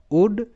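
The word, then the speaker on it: would: নয় কুলড কিন্তু নয় মানে এল গুলো সাইলেন্ট উড কুড সুড পরের প্যাটার্ন ও ইউজি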